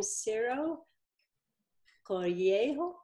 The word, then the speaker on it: Ciro Coelho: And anyway, I'm really excited to present him to our club, and I think we pronounce his name Ciro Coelho.